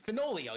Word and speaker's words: Fenoglio: his actual white horse fenoglio you're just finally oh the g is silent and uh he is